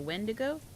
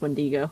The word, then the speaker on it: wendigo: Beast there's that dude you mean the windigo as pronounced when Diego oh I am pronouncing